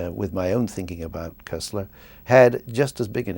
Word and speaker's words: Koestler: name well you the it depends on where you are in in Europe and among the cognos candy if you like it's cursed ler because it's a German name and but in America the standard pronunciation is Kessler and I'm not sure